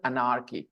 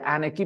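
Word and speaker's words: anarchy: This is नाउ a classic case of regional अनार्की, ठीक है, या एनार्की पढ़ना चाहिए, सही प्रोनाउंसिएशन, बचपन की आदत है अनार्की पढ़ने की, वो मैं बोल गया, लेकिन करेक्ट प्रोनाउंसिएशन है एनार्की।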